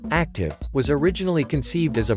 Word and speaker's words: ACTUV: continuous trail unmanned vessel actuv pronounced active was originally conceived as